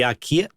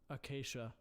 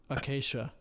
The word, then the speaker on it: acacia: The Akia, I can never remember how to say this the right way. Hold on a second. Hold on. Acacia. Huh. Acacia. I always forget how to say that.